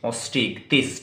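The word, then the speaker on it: Osteichthyes: OSTEICH, ऑस्ट्रिक्थिस, THYES, ऑस्ट्रिक्थिस।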